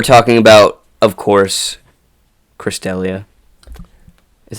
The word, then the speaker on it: D'Elia: very fresh we're talking about of course Chris D'Elia is how you say his name yes I